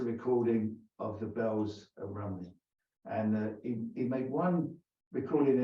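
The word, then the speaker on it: Rhymney: of Welsh poets, and he sees Bells of Rumney. He says Rimney because they don't know how to pronounce it.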